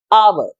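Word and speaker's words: hour: एक वावल की आर H silent है इधर इसलिए इससे पहले भी लगता है एन आवर तो ये था डिफरेंस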